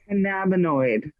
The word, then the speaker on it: cannabinoid: either way how about how about cannabinoid cannabinoid that's the way cannabinoid thank you jeff